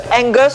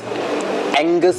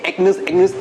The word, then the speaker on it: Angus: I can never pronounce Angus beef. Angus rib eye properly. Seriously, I always say Agnes, you know. Agnes beef. Yeah.